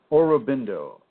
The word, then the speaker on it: Aurobindo: You might want to read Shri, and I believe that's spelled S-R-I, Aurobindo, capital A-U-R-O-B-I-N-D-O, Aurobindo.